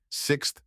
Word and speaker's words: sixth: Sixth. Sixth.